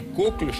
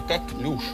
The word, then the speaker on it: коклюш: Не коклюш, а коклюш. Правильно, ударение, коклюш? Да, ударение Французское?